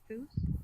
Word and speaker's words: Foos: It's pronounced Foos. Foos. Oh. Okay. Can you hear her? So everyone, I'm always worried. Like I was worried everyone that in like the King because of she Hate talks world, really fucking lightly. It is now Foos. So pretty much it rhymes with lose, if I would be correct.